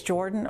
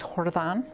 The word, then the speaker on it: Jordan: my name is the last name is jordan or if you look at it in spanish it's hordethon i'm born and raised